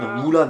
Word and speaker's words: Mulan: Ou Mulan, attention, on prononce comme ça.